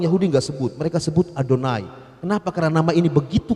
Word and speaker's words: Adonai: Makanya kalau ada yang bilang Yahweh, Yahweh, sebenarnya salah, karena itu huruf mati. Dia orang Yahudi bacanya Adonai.